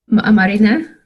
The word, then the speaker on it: Marina: I don't have to say it right yes Marina marina okay I can't read that alphabet very